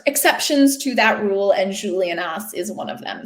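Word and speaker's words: Juliénas: However, there are places, there are people's names, there are exceptions to that rule, and Julianas is one of them. So you do, in fact, pronounce the S there.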